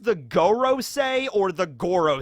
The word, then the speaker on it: Gorosei: that's not correct because go in japanese means number five and it's the five elder stars so i think they're